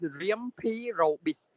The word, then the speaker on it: Riampi Robis: The correct pronunciation of my name is Riampi Robis.